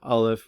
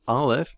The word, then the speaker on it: aleph: we head into 5781 well aleph is a silent letter it's the first little hebrew alphabet and it has no sound in and of itself and perhaps